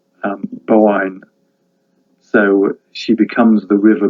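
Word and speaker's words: Boann: a d on the end um it's actually pronounced um bowen so she becomes the river boyne she's the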